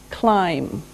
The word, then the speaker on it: climb: is climb climb now it doesn't sound like it looks now if this letter B is silent climb okay we climb a